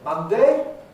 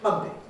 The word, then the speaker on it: Monday: vowel so you could say monday or you could say monday and i think it's wrong to ask which of these is correct because the answer is of them are correct both of them are